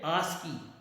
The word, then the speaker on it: ASCII: तो मैं आपको बता दूं दोस्तों, ये बेसिकली एक जो स्टैंडर्ड होता है वो उसका नाम है ASCII, जिसको हम लोग बेसिकली प्रोनाउंस करते हैं आस्की।